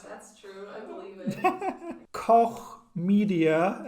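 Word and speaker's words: Koch Media: true i believe it coch media and yes that's that's how you say it media media i'm so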